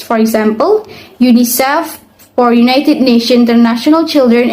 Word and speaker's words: UNICEF: individual letters for instance UNICEF is pronounced as UNICEF not u n i c e f acronians are commonly used